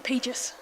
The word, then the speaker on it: Pegis: Yes, it's actually Pegis.